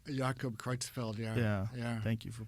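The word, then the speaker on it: Creutzfeldt: right like cannibals when they get that Jacob crookfeld Jacob kreutzfeld yeah yeah thank you for pronouncing that better well when I was a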